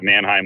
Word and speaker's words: Mannheim: And I guess I should start saying that the Mannheim Auto Auction, that's the proper way to say it.